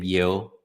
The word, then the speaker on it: Yeo: Uh my name is Tim Yeoh. Um it's pronounced like Yeoh, what's up?